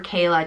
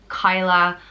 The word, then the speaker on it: Cadhla: You know, we have 4 different provinces, and usually names are pronounced differently in each province. So I'd go for Cadhla, just because if I was to read it, that's probably how I would pronounce it.